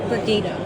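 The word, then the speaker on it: Brigitta: Brigida. I should spell it, shouldn't Are I? you B-R-I. Northern Brittany. Brigida. B-R-I-G. What's the G? Brigida, like the sound of music.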